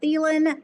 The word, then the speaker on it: Thelen: So, if you just track my name, Thielen, uh, t-heen. Um, it's just T with a Helen is how my last name is spelled. So T Helen.